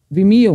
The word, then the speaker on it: Vimeo: Vimeo, which is literally the word of video with me. So, Vimeo nga, tama nga ako.